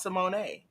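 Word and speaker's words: Symoné: who that said Simone the girl's name is pronounced Simone it looks like someone I remember singing that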